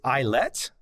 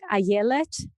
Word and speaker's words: Ayelet: Your proper pronunciation is Ayelet? That's totally fine. The way my parents would pronounce it would be more like Ayelet.